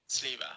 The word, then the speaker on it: Sliwa: Let's see how to pronounce Sliwa. It's Sliwa. So it is Sliwa.